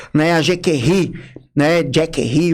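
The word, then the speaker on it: Jacquerie: a gente ri né Jackie rie uma pronúncia em francês né Jack seria uma ideia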